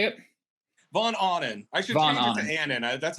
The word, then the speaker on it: Von Ahnen: von anden is that how you say it vaughn awning actually that's how everybody pronounces it so maybe i'm wrong well no